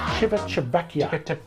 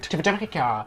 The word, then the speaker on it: Civitavecchia: My favourite is Kadarsee, and least favourite is Civitavecchia. I pronounced it right. Civitavecchia.